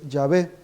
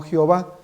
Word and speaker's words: Yahvé: en el Antiguo Testamento es yahvé no Jehová Si uno consulta diccionarios y enciclopedias e incluso los mismos libros de los Testigos de Jehová ell uno puede leer que la pronunciación correcta del nombre de Dios es yahvé si uno Busca la palabra Jehová dice el diccionario la enciclopedia pronunciación incorrecta del nombre de Dios y dice la pronunciación correcta es yé sin embargo para nosotros